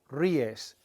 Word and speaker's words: ríes: Te ríes. There's an accent on the I to break up the diphthong.